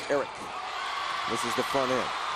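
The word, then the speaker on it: Arick: It's spelled A-R-I-C-K, but you pronounce it Eric.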